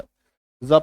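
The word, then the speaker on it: whose: अंग्रेजी होगा हुज हुज ये देखो उच्चारण कैसे इसका होता है ज पे नुक्ता हुज ज का एक ब सा साउंड आएगा स का मतलब किसका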